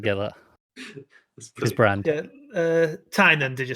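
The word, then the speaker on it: Tynion: Looking at Tinian's latest. Tynan is how you say his name, by the way.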